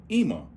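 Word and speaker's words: אמא: When you got ma, ah, they pronounce it Ima.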